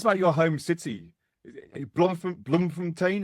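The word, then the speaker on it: Bloemfontein: Bloomfontain. Is that how you pronounce it? Yes. Yeah.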